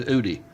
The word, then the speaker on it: Udy: Just remember it rhymes with Rudy. Oh, so it's it rhymes with Rudy, which means her last name is Udy. Gotcha. Udy.